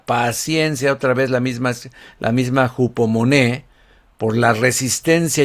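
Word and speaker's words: ὑπομονή: Y aquí se pronuncia en griego hupomoné.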